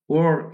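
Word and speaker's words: war: The ministry of liberation ওর, এই উচ্চারণটা কিন্তু ওয়ার না, উচ্চারণ হবে ওর।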